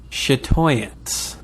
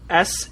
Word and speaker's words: Chatoyance: No, it's going to be Chatoyance. What? Chatoyance. Chatoyance. Bob, I need you to guess how this fucking word is spelled.